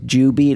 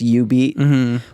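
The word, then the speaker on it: jubeat: which the machine says jew beat on it but because of the japanese pronunciation it's you beat which is you have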